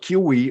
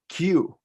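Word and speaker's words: queue: This is not kiwi or kiwe or anything like that. It's Q.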